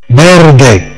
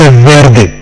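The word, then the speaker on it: verde: بيردي نعم نعم يونس بيردي ليس فيردي برد والباء خفيفة وتقبلها للنطق لا غير برد برد برد أخضر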